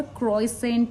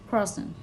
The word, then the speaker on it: croissant: CROISSANT spellings हैं इसके, पर क्रॉइसेंट या क्रॉसेंट या क्रॉसेंट ऐसे नहीं बोलते। इट इज़ मतलब अगर प्रोनाउंसिएशन बताऊँ तो KWASWANG, क्रॉसन ऐसे बोल सकते हैं आप इसको।